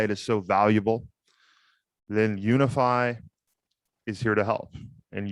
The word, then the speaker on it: Unifi: that today's episode is brought to you by unify commerce say with me now unify commerce yes guys that is spelled u n i f i commerce dot